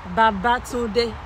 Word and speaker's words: Babatunde: It's pronounced... Babatunde. So Tunde. You did not say Babatunde, you said Babatunde.